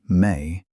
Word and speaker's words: me: The term me, pronounced may, refers to what's usually